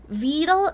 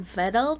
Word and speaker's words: Vedal: Oh, bro, I remembered, like, someone actually told me that Vidal isn't technically supposed to be pronounced like this. More like Vedal, probably.